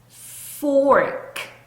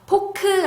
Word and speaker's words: fork: Fork fork 요렇게 발음하시면 되겠습니다. 자, 여기 있는 R 소리 R 소리 꼭 넣어 주시는 거. 그래서 포크 아니고 fork fork라고 발음하셔야 되고요.